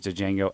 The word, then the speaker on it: Django: Joe, I was gonna say it's kind of between Inglorious Bastards, Django, and those two movies. The D is silent. Say it better. Yeah. Django. I'm There sorry.